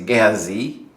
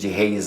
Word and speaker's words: Gehazi: gusto niyong magkaroon ng mas tamang pronunciation, mas tama yung Tagalog pronunciation or yung Filipino pronunciation kaysa sa English style pronunciation. So yung jihez na yan sa English pag sinabi mong gehazi mas malapit yan sa original Hebrew translation or pronunciation.